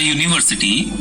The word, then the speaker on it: university: Let's look into examples where we use article A before a word. A boy, a woman, a horse, a book. These all starts with a consonant sound.